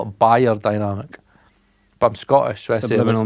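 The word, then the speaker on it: beyerdynamic: It's not bear dynamic, it's buyer dynamic. Did you know that? I never knew that. You're meant to call it buyer dynamic.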